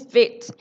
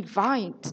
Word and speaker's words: Vite: Before I joined the company, I also thought it was VITE. It's actually VITE. It stands for fast in French.